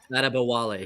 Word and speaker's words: Adebayo: Adebwale, did I say that right? Adebawale? Adebawale. Yeah, Adebawale. Thank you, Moose. You're welcome. With your African pronunciation expertise.